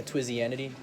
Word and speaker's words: Twizzianity: Yeah, Twizzianity. How do you spell it?